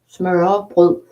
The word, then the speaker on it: smørrebrød: when they say smørrebrød, it's hard for you to pronounce because it's this letter that makes it hard for you to pronounce because it's smørre, and then bread is brød is also with the same letter, so the letter is